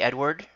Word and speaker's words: Edward: Good morning, Edward. With a silent T.